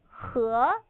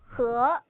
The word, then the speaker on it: 和: The English letter E is pronounced as and it sort of sounds like UH in English. Now repeat after me. 和, 和.